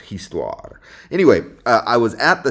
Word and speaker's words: histoire: In fact, instead of history, maybe I should say histoire. That's how you say history en français. It looks like history, but it's pronounced histoire.